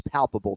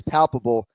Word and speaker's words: palpable: You have to have one syllable that you emphasize, right? So pal needs to be capitalized. So it says palpable, adjective, readily or plainly seen, heard, perceived, etc.